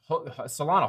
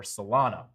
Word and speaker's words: Solana: So I'd watch these three levels right here for Solana. I know some people pronounce it Solano. I think CryptoFace says Solano, which makes me think I'm saying it wrong.